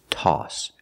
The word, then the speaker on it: toss: Remember the pronunciation, aw, aw, toss.